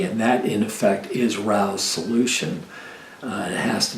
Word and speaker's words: Rao: though I know that Rao rhymes with Mao but as in miles